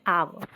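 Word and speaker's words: hour: half N R again यहां पे H silent है एंड we call it आवर right we यूज़ ए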